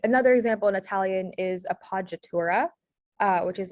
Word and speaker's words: appoggiatura: The double consonant is common in Italian. And so one example that we see here is the P is a consonant that is repeated twice. And then the J sound is spelled with the GG. So, or GGI actually in this case.